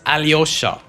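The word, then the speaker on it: Alyosha: I don't know why they're not pronouncing the Y. It's so easy to pronounce. Aloha. What the It's Aliosa. Where's the Y?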